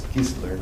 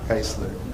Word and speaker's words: Kiesler: It's going to be hard for me to just say Kiesler the way it's spelled, but I know it's Kiesler, not Keisler.